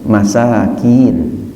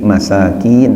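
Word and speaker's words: مساكين: selain miskin yang zamannya Masakin ya make bacanya ada panjangnya ia datangnya dari panjang yakni masakin bukan Masakin ya Tengah saya ceramah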